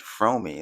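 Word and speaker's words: Fromme: So after he gave his whole spiel, he walked away and then uh Lynette Fromy, that's how you pronounce it.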